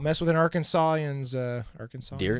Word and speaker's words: Arkansas: But it's spelled exactly the same. Yeah, it's Arkansas.